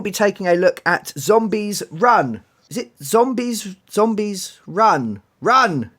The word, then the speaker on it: Zombies, Run!: Well, there's a comma in there as well, so it's Zombies Run! In a bit of a panic state, yeah. So every time we mention it, we have to leave the pause and get very excited.